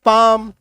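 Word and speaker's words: palm: यहाँ पे क्या एम है तो एम है ना, तो इसमें एल को मत पढ़ना, अब काट दो एल को, पी एम पाम, ये देखो सी ए,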